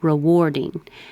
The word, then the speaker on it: rewarding: Rewarding. Looks like AR. Sounds like OR.